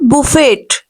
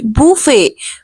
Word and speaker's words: buffet: This is not buffet. No, buffet. No, no, incorrect. Simplest word is buffet. Actual pronunciation will be buffet. We will have to give sound of Y to T and O to U.